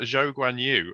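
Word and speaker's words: Zhou Guanyu: but we have uh joe guanyu um that is apparently how he prefers to have it pronounced so we will you know obviously defer to that um uh so you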